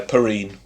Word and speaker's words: Perrine: by someone called Charles Perrine? Perrine? Perrine? How would you say that? Yeah, Perrine. Perrine. He was born in America, so I don't think it would have been a French pronunciation.